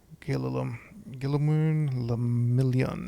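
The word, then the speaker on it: Guillaume Le Million: Gillimun Lamillion. And if it doesn't rhyme, you're not pronouncing it right.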